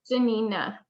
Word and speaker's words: Giannina: Am I pronouncing your name correctly? Yeah, it's Janina.